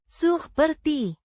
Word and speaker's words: seperti: Pronounced. Suh-per-tee. With the Purr. sounding similar to the English, purr, and the t, as in, tea.